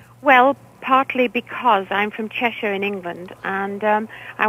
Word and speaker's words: Cheshire: really and so uh you I hear you pronounce it chesher chesher chesher okay I'll try to remember that